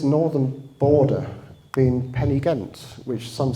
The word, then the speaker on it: Pen-y-ghent: Am I saying it right, Pen-y-Ghent?